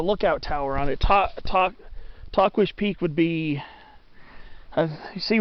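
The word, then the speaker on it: Tahquitz: hiked since october of 2017 and that was talk wish peak and uh yes that's supposed to be how you pronounce it it's spelled u i t t-a-h-q-u-i-t-z a lot of people say talkits or talkwits or tuckheats or tuckwheats but i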